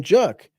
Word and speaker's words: Juck: ever since I was an infant, they have called me Juck, just short for. Just so happens, rhymes with buck, right?